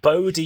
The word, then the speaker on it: Bode: It's pronounced Bodie, you dumb bitch, who